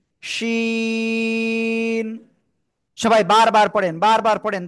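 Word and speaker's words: شين: জিহ্বার মধ্যখান তার বরাবর উপরে তালুর সাথে লাগাবেন, লাগিয়ে শা শা শব্দ করে তিন আলিফটা নিয়ে উচ্চারণ করতে হবে। শিন, শিন।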